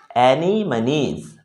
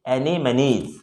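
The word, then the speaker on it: anemones: is the next question how is the word any money is pronounced so here the pronunciation is annie moniz okay the pronunciation is animes you can see the pronunciation written over there and but you have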